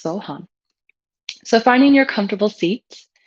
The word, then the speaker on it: So Ham: meditation on the mantra So Hum. So Hum. It's spelled SOHAM, but pronounced So Hum.